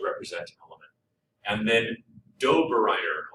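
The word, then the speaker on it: Döbereiner: And then Dobereiner, sounds like Doberman to me when I say his name.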